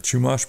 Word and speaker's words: Chumash: I'll probably butcher the name of the people there, the Chumash people.